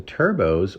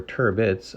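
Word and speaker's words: turbot: a rich mineral flavor the turbos or turits as they're alternately pronounced are more of a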